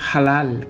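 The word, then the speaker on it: הלל: Es decir, la palabra que usa ahí en se jacta, en hebreo es halal, que de ahí que viene la palabra aleluya. Halal, ja. Esa palabra halal, ha, se pronuncia halal, yahoh, y de ahí viene aleluya, aleluya, que significa alabanza a Jehová.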